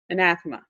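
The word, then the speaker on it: anathema: an estimate a n a th e ma an athma that's correct that's correct survived in advance so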